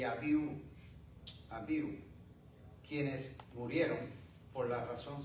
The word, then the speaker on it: Abiú: Abiú, no sé tienen un acento en la U. Abiú. Abiú.